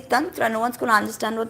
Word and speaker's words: Tantra: now become Tantra whereas it's not done draw it's Tantra Tantra but even I have to say Tantra because if I say Tantra No One's Gonna understand